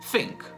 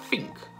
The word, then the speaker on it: think: fanno, lo odio, è di abbozzare il suono del TH a una F. Quindi, anziché dire think, dicono think. No, no, no!